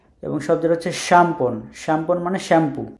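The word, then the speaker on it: szampon: এস যেটা অনেকটা ওরা ওই স্বর মতো উচ্চারণ করে শ, সো শ্যাম্পন, শ্যাম্পন। এখানে দেখেন জেড কিন্তু উচ্চারণ হচ্ছে না, শ, এস যেটা হচ্ছে শ, এবং শব্দটা হচ্ছে শ্যাম্পন, শ্যাম্পন মানে শ্যাম্পু।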